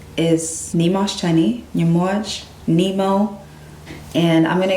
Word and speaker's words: Nyamuoch: So for example, in Noor, it's pronounced Nyamuoch. So when I'm around any Sudanese person, my Noor people, it's Nyamuoch.